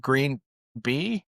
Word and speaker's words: GreenBii: Do you pronounce it green B?